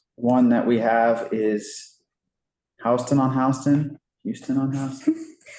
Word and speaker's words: Houston: That's how I knew it's pronounced Houston.